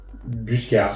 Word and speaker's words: Buscard: Tu prononces le T ou pas ? Buscard, comme le phonétique en bus et car Buscard.